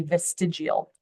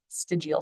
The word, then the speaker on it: vestigial: And the way you pronounce it is typically vestigial vestigial structures.